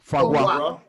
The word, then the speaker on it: foie gras: Foie gras.